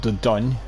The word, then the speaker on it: Dordogne: It's called Dordogne. It's pronounced like it's a French word.